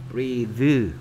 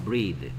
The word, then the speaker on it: breath: 근데 이가 없어지면 얘는 breath가 됩니다. breath. th의 발음이 뭐가 된다? 무성음이 됩니다.